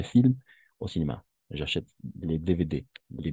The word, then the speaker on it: DVD: J'achète les DVD. Les DVD. Oui, on va faire la prononciation à la française. DVD. DVD?